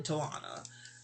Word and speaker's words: Tawana: I'm paraphrasing, but yeah, the attic we was there was some token of the marijuana and the Tawana. Her name spelled like marijuana except for the T, which is so cute.